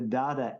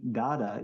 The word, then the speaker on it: da: know devashish in Bengali when you put the data after the name you don't say Rohit Dada you say Rohit da you Court you cut that last syllable and I was uh